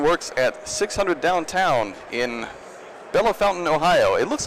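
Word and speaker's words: Bellefontaine: Nate Wilson works at 600 downtown in Bella Fountain, Ohio. It looks like it's spelled Bella Fontaine, but they tell me it's pronounced Bella Fountain.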